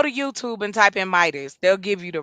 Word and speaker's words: Midas: No, Midas doesn't have a T in it. It's Midas. That's my country ass accent, but it's Midas with no T.